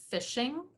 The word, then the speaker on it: phishing: Finally, you need to be aware of what's called phishing, but it is spelled with a PH. I didn't make a misspelling here.